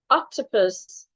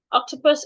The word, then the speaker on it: octopus: So for example, octopus has 3 syllables. And there is a rule that says that some words with 3 syllables are stressed on their first syllable. They are naturally stressed on their first syllable. Octopus is one of such words. So because of that, we are stressing the first syllable. It means that we'll say the first syllable louder, longer, and clearer.